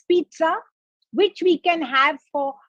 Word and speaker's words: pizza: it a lot of us say pizza a lot of us say pija but we must really say pizza it's pizza it's an italian word it is not even an english word so do remember one